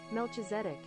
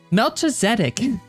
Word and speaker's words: Melchizedek: Melchizedek. Melchizedek. That's how you say it? Melchizedek.